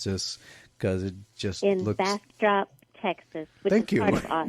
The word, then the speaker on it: Bastrop: the Cult Classic Convention in, I'm going to mispronounce this because it just looks... Bastrop, Texas, which Thank is you.